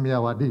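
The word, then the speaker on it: Myawaddy: sendiri itu ada di Kalau tulisannya miiawadi gitu bacanya miyawadi Ya ini perbatasan antara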